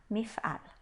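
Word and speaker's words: מפעל: Apesar da última sílaba ser uma sílaba fechada, ela é a sílaba tônica da palavra, então a gente lê como um A, mif'al.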